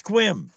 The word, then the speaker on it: Sequim: Pronounce it right. Squim.